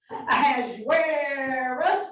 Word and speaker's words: Ahasuerus: Everybody also learned how to say the biblical name of King Xerxes with a little bit of a southern twist. Ahasuerus, Ahasuerus.